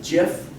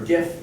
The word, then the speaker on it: GIF: PNG doesn't shrink them, GIF or GIF, depending on how you want to pronounce it, GIF, that doesn't shrink them.